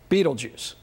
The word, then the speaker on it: Betelgeuse: It marks the shoulder star of the great sky giant Orion the Hunter, and its name is Betelgeuse, which most people pronounce Betelgeuse.